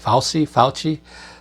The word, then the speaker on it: Fauci: Fauci.